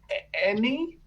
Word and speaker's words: ENE: ENE is pronounced any.